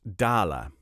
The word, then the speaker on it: dollar: with it in the first place it is pronounced dala a dala is divided into a hundred cents